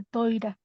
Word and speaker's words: Torá: ¿Por qué cuando usted habla acerca de cuando dice Torá, en lugar de decir Torá dice toira? O sea, okay, esa es la pronunciación ashkenazi o sefaradi.